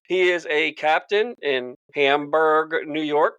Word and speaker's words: Hamburg: He is a captain in Hamburg, New York. Correct, Todd? Hamburg? That's correct, Chris. I want to make sure I get it right. I'm bad at pronouncing shit. It's like the hamburger without the ER, right?